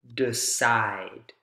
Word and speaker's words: decide: and and a root the stress goes on the root form not the prefix the prefix is unstressed